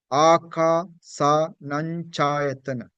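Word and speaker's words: Ākāsānañcāyatana: Akasanancayatana. Yeah, you better get familiar with this. The Nose is little bit involved. Yeah, you have to use your nose when you pronounce this some of the words.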